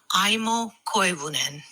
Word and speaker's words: Aimo Koivunen: Aimo Koivunen. That's Aimo Koivunen. Aimo Koivunen.